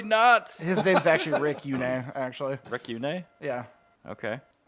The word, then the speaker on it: Yune: His name's actually Rick Yune, actually.